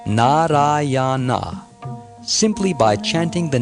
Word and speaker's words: Nārāyaṇa: Although calling the name of his son, he nevertheless uttered the 4 syllables, Narayana.